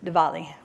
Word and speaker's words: Diwali: each other saying happy diwali now you may notice that it's spelled with a w in the middle but it's pronounced kind of a soft vw diwali day four that's that's